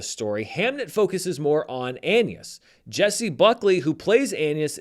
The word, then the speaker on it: Agnes: William and Anna Shakespeare, which is spelled Agnes, but pronounced in I assume the old English way, Anus in this movie, deal with a tragedy in their family.